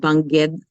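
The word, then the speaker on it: Bangued: from a little town in the Philippines called Bangged, Abra, in the mountain province up in the northmost island of the Philippines. And I just love mentioning that. Can you pronounce that again? Bangged, Abra. Bangged Banged, is the name.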